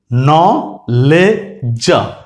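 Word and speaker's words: knowledge: KNO, KNO, ন, KNOW আছে এখানে, আই am very sorry, KNOW হবে ন, ন। তারপরে LE, লে, লে, ন, লে, ন, লে। আর ডিজি এর উচ্চারণ হচ্ছে জ, তাহলে কি হয়ে গেল? ন, লে, জ, নলেজ, নলেজ।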